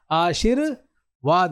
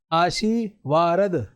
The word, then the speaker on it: आशीर्वाद: लेकिन जब इसका उच्चारण होता है र का तो उसके आगे वाले वर्ण के ऊपर लगता है। जैसे आशीर्वाद ये स पे नहीं लगेगा। आशीर्वाद श के आगे इस र का उच्चारण हो रहा है। लेकिन ये अपने आगे वाले वर्ण के ऊपर लगेगा। लेकिन उच्चारण इसका कहां होगा? पहले होगा आप इसको ऐसे नहीं बोल सकते आशी वारद ऐसे नहीं बोल सकते आशी वारद